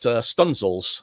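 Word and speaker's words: studdingsails: written, and things like the fact that Stunzels is spelled studding sales, and English speakers used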